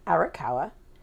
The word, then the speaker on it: Arakawa: in Hawaii, and I am speaking to Glenn Arakawa, who lives in Waianae, Hawaii. How do I do with those pronunciations?